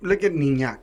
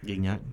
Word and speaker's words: Gignac: Look at Niñac, bro. That's not even how you pronounce his name, but Gignac.